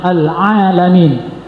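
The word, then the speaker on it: العالمين: Awas jangan salah. Ain. Alalamin.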